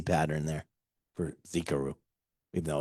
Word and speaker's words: Xicaru: So that's that's where we we got the name Zikaru. Yeah. Always remember you pronounce the X like a Z.